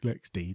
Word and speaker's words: LXD: Stefan works for Canonical and works on LXC, LXD, or LexC, LexD, depending on who you speak to, how you pronounce that.